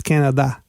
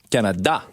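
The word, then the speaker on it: Canadá: a tricky thing because in english the stress syllable it's canada now in portuguese and when you say canada the stress syllable is da so it's canada canada yes all right i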